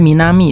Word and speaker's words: 南: Kunyominya minami, onyominya nan. Sama kayak tadi, sering muncul sendiri kalau di soal N5, atau ditempel sama kuchi, minami guchi.